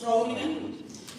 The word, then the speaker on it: Groningen: As I said, I am from the Netherlands, where I studied sociology in the beautiful city of Groningen. I pronounce that very liberally in a Dutch way.